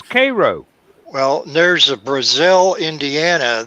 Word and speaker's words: Cairo: Cairo is pronounced differently than how Yeah. a Cairo. town of a similar name in Egypt is pronounced. Yeah. No, it's Cairo.